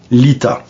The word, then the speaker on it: Litha: Donc, mais que signifie l'Ita? Bon, l'Ita se prononce Lita, mais c'est assez facile à comprendre.